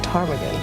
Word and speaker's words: ptarmigan: The P in English is silent, so it's just ptarmigan.